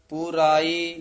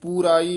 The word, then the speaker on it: पुराई: गुर मान की आस पुराई जीयो पुराई पाठ ना पराई नहीं कहना लकड़ लगे हुए हन दीर्घ उच्चारण करना गुर मान की आस